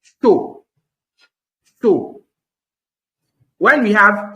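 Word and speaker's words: chaud: be pronounced o so anywhere you see Au in a French word pronounce it o example is the second example there example show c h a u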